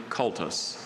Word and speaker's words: cultus: Sahaley wrote an honors thesis on the chemical reasons for the distinctive coloration of the rare blue cultus.